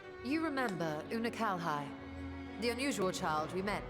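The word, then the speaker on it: Unukalhai: of the 13th thus that's how you say his name it's not a new Cali whoopsie it's too bad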